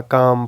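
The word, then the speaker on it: calm: एल आ जाता है the letter L is silent का अब साइलेंट होगा आफ्टर सर्टेन वोवेल्स जैसा कि अ ओ ओ यू ऊ जो है such as इन the word काम और यह रूल आप इस तरह भी कह सकते हैं कि जो है वोल के बाद एल आ जाए फिर एम आ जाए तो उस केस में भी एल प्रोनाउंस नहीं होगा काम पाम टॉक इस तरह के वर्ड्स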